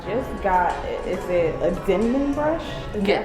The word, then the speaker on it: Denman: I just got, is it a Denman brush? Is that how you pronounce it?